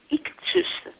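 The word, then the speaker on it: ἰχθύς: Let me pronounce it in ancient Greek, ichthus.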